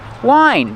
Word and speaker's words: whine: How do you pronounce it? Wine. Just like the wine you drink.